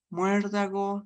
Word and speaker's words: muérdago: Y llevan tilde en la antepenúltima sílaba. Fíjense, murciélago, muérdago, miércoles.